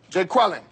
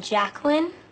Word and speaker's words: Jacqueline: Jay Quellen. Where's Jay Quellen at? No Jay Quellen here? Yeah. Do you mean Jacqueline?